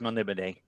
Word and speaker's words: Melniboné: anniversary of a little character named Elric of Melniboné. I go Melniboné. Others pronounce it different ways. It's fantasy. It's pronounced Melniboné.